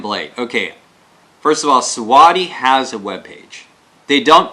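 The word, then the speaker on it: Siwode: This company is called Siwadi. It's spelt, hang on, let me get the box.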